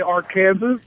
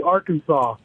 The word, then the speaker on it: Arkansas: I actually read that Arkansas legislated the pronunciation of their name because people would say Arkansas so it is officially Arkansas yeah it's not like